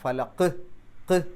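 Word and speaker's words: فلق: അപ്പോൾ ഖുൽ അഊസു ബി റബ്ബിൽ ഫലഖ് എന്ന് പറയുമ്പോൾ ഖുൽ അഊസു ബി റബ്ബിൽ ഫലഖ് എന്ന് പറഞ്ഞാൽ പോരാ, ഫലഖ്, ആ ഒരു ഫലഖ് എന്നുള്ള ആ അവസാനത്തെ ഖ് എന്നുള്ളത് പുറത്തേക്ക് വെളിവായി കേൾക്കണം. ഫലഖ് എന്ന് പറഞ്ഞാൽ പോരാ.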